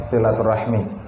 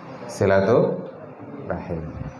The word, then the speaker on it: silaturahim: di sini dalam rangka silaturahmi maknanya adalah farjul UNS jadi yang tepat adalah silatu silatuahim Apa tadi fikrul silatu